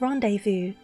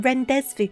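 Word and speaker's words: rendezvous: my tracking went funny when I was younger I couldn't pronounce rev Vu um and I kept on saying it renes Vu see I could understand that though cuz that's how it's spelled so I can understand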